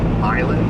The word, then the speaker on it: Milan: It's pronounced Milan, my bad.